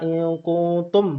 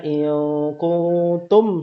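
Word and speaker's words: إن كنتم: Ya, tadi telah dijelaskan juga kata in kuntum, mim yang bersukun ya, maka dia tidak panjang, dia tidak ditempo, tidak ada jedah. Maka dibacanya in kuntum shadiqin.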